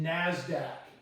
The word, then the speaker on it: Nasdaq: markets you may have heard of this is pronounced Nasdaq it stands for National Association of Securities Dealers